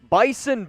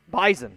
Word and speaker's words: Bison: Bison Born. Bison. Okay, my mistake. The S is pronounced like a Z.